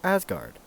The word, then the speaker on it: 4564RD: Believe it or not, 4564RD is pronounced Asgard.